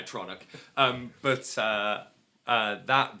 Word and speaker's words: Atronic: I I would pronounce it atronog, but I'm pretty sure they're right when they say atronic.